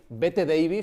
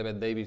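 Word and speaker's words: Bette Davis: Lo primero, entre las figuras famosas que pasaron por allí, Bet Davis, porque aquí no se dice Beth Davis ni Betty Davis, dice Bet Davis, Carigran, Grace Kelly.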